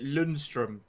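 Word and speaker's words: Lundstram: Bernie scores I'm done pronounce it Lindstrom that's how you pronounce it he's another one it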